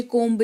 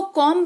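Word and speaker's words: comb: अपनी जुबान को क्लियर रखना चाहते हैं, उच्चारण के ऊपर काम करना चाहते हैं, तो आपको बी का उच्चारण इस तरीके के पर्टिकुलर स्पेलिंग्स में नहीं करनी है।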